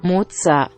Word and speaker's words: Moser: the text said Rosie or Moser but in the determined pronunciation it is actually matzah matzah matzah matzah it's